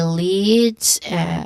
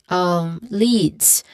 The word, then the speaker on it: leads: So leads. There's a long E vowel sound here, and it ends with a buzzing sound, although very subtle, but still a buzzing sound.